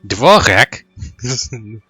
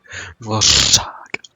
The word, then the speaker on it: Dvořák: Ty charaktery anglicky mluvící se snažit vyslovit ř je bude pro mě lehoulince vtipný prostě konstantně vždycky, když se o to pokusí. Dvorek? Dvořák.